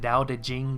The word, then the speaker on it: Tao Te Ching: Now, I typically pronounce it Dao De Jing, but the cover of this book particularly was Tao Te Ching.